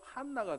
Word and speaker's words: 한나: 여러분이 안나라는 이름이 히브리어로 발음을 하면요, 한나가 됩니다.